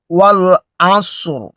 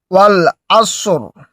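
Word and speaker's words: وَالْعَصْرِ: ওয়াল আসর অর্থাৎ সদ এবং রয়ের উচ্চারণটা একই সাথে হবে। যদি আমরা দম ফেলি আর যদি দম না ফেলি তাহলে কিন্তু আমরা পড়বো ওয়াল আসর রয় নিচে যে রয়েছে এই জেরটা আমরা ধরে পড়ব।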